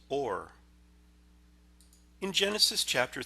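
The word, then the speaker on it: אור: The Hebrew word for light is pronounced or.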